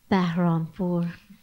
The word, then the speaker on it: Bahrampour: You can pronounce it for me. Bahrampour? Bahrampour.